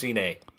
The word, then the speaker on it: Cine: Lewis Cine. Lewis Cine, okay.